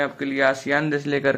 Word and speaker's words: ASEAN: इसका जो शुद्ध उच्चारण होता है वो एशियन होता है।